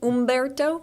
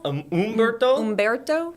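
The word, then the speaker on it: Humberto: Ombberto. Am I saying it right? I was trying to look up the pronunciation this morning from the NHC. I believe we do not pronounce the H.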